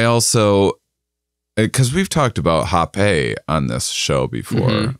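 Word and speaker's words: rapé: But I also, Because we've talked about hape on this show before. Mm-hmm. Yeah, spelled rape. Yeah, it's spelled R-A-P-E, and it's pronounced hape.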